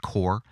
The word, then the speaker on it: Corps: The Corps, who I played on the show a couple of times already, spelt C-O-R-P-S, but pronounced Core.